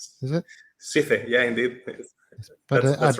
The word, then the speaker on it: CCalle: and Central America at CCalle, I think that's pronounced. Is it? CCalle, yeah, indeed. But that's right. Yeah, CCalle.